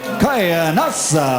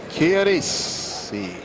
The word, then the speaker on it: Chianese: Ladies and gentlemen, Biagio Chianese. Buffer's got to work on his Italian, Good Larry. evening, gentlemen. You were both given your instructions. Both use touch gloves. Chianese.